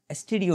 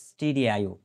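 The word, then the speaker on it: stdio: file এসটিডি আইওড এইচ স্টুডিও না এটা এটা স্টুডিও না অনেকে আবার স্টুডিও করে ফেলে স্টুডিও স্ট্যান্ডার্ড আইও বেটার উচ্চারণ যা আমরা এভাবে করতে পারি বেটার প্রনান্সিয়েশন হল স্টিডি আইও স্ট্যান্ডার্ড ইনপুট আউটপুট ডট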